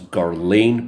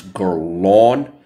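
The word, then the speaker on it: Guerlain: the house of gon I know I used to pronounce it as garain but it's gon and here it is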